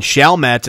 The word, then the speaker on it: Chalmette: Chalmette, to be exact. I believe that's how they say it. Chalmette.